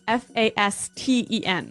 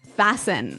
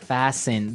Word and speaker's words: fasten: interesting yes it's spelled f a s t n right so it would be Fast N no no right fasten fasten the T kind of becomes silent so it's fast yep